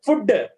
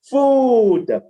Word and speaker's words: food: speaking about word food we is pronouncing as food I didn't take food I didn't take food wrong way this is the wrong way the right one is food food d d for